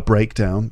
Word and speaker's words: breakdown: the difference in stress so when it's a noun the first syllable is stressed breakdown and when it's a verb the second part is stressed to break down the last thing you'd